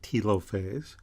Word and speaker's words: telophase: opposite ends and then in telophase or some people pronounce it telophase but in telophase the